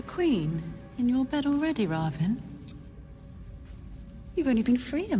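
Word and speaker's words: Rahvin: We can argue all day about pronunciation of these names, but what we cannot argue with is how it's pronounced in the audiobook. And in the audiobook, it's Ravin.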